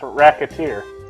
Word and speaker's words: Recettear: oh wow rest is here if you problem mispronounce it it's racketeer okay this job is going to be even